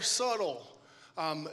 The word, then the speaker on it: subtle: Why did we spell it S-U-B-T-L? I mean, can we just all decide to throw rebellion and just start spelling words like they sound? Like it's subtle, subtle.